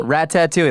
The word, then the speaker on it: Ratatouille: Was that Rat-tat-tooey? Ratatouille, that's how it's pronounced.